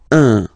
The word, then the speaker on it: un: but you've got to pronounce it like un. So it's what we call the nasal, so it goes in your nose, okay? Un. So if you listen to me, you don't hear any N, okay?